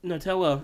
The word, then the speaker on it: Nutella: older than that but Nutella has only been I mean they've always had h on spreads but yeah Nutella or Nutella as it's actually supposed to be pronounced some people it's n